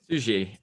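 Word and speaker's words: Suger: we started recording, of Divine Light by Abbott Shoot. Okay. Sujet. It's French. I took Spanish in high school, so French pronunciations are not my thing.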